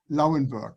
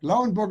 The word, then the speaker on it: Lauenburg: And that's dukedom Lauenburg. Lauenburg is easy to pronounce for you, Lauenburg, and dukedom also.